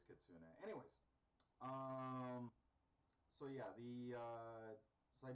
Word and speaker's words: Kitsune: Was it Tetsune? Was the pronunciation for the fox with the multiple tails? Kitsune? Kitsune. I believe it was Kitsune.